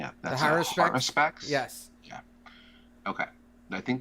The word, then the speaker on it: Haruspex: Haruspex.